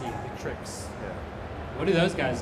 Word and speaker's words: Victrix: So Vixtrix, how do you say it? Vixtrix? Victrix. V-I-C. V-I-C. Victrix.